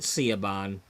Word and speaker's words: Siobhan: Now, some people pronounce her name Shobin. Shaban, you know, I pronounce it Siobhan, but Siobhan Fires is